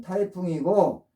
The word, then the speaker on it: 颱風: 지금의 홍콩 일대 사람들이었습니다 그들은 그것을 태풍이라고 불렀는데 발음은 타이풍이고 그것이 현재 영어의 타이푼이 된